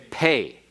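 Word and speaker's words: פ: is without the dougish it is pronounced like f or like pH as in fat or as in phone if you want to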